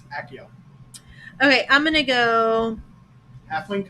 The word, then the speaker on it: Accio: Okay, I like the the Akio. Accio? Like the Harry Potter spell. Accio. Accio? Akio. I had a student named Akio. Spelled the same way. But it's Accio.